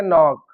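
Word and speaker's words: knock: अगर के के तुरंत बाद एन है और उसके बाद कोई भी वोवेल है तो के साइलेंट हो जाएगा। जैसे नॉक। अब यहां के के बाद एन है और फिर वॉवेल आ गया।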